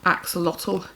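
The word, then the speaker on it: axolotl: for these kind of plushy toys um so it's spelled a x o l o t l axotal anyway he passed which is brilliant um he's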